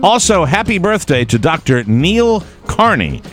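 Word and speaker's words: Neel: I would think you would know how to say Neil. Well, it's Neil, just an odd spelling. N-E-E-L is Sure.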